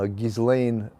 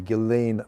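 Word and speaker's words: Ghislaine: the epstein case um uh gizlane uh well they pronounced the s silently gelane maxwell that's supposed to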